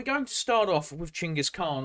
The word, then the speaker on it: Chinggis Khan: But we're going to start off with Chinggis Khan or Genghis Khan, as people will get mad at me as we talk about this, because I pronounce it correctly as I've been instructed to, rather than the anglicization.